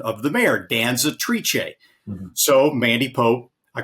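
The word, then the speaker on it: Danzatrice: named after the Italian word for female dancer Danza triche that's the official correct pronunciation of the mayor Danza triche so Mandy Pope I called her this morning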